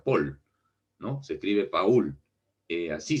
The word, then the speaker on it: Paul: el inglés por ejemplo es paul no se escribe paul se pronuncia pool no se escribe paul